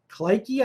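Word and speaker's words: Kleki: gonna use this tool this is called clicky I pre pronounce it it's KL eki and again it's free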